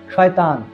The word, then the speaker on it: শয়তান: আর কোনো আরবি শব্দের মধ্যে যদি শিন বর্ণটি থাকে, শিন, ওই যে 3 নোকটা উপরে শিন, এই শিন দিয়ে যদি থাকে তাহলে সেটা তালব্য স দিয়ে উচ্চারণ করতে হয়। যেমন শয়তান, এই শয়তান শব্দটা কিন্তু এই শিন দিয়ে শুরু।